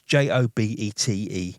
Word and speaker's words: Jobete: to Dominion after, but the first presses were Joe Beat or Joe Bet or whatever. I'm sure you're going to say that I've pronounced it wrong, but it's Jobete.